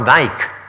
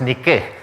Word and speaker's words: Nike: And now it's pronounced Nike for the shoes, but it's Nike, meaning victory in Greek.